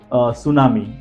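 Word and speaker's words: tsunami: अब देखिए, ये जापानीज़ वर्ड है और जापानीज़ में टी का प्रोनाउंसिएशन नहीं होता है, तो उन्होंने सुनामी के स्पेलिंग के आगे टी को लगा दिया जिससे वो साइलेंट हो गया।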